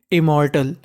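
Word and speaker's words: immortal: want to बी इम्मोर्टल इम्मोर्टल एम दो बार है उच्चारण एक बार करना है और आखिरी में लिखा है ए एल तो एएल को पढ़ना है अल तो मीनिंग क्या बन गई इम्मोर्टल इमोटर का मतलब अमर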